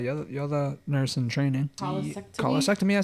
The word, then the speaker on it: cholecystectomy: Cholecystectomy.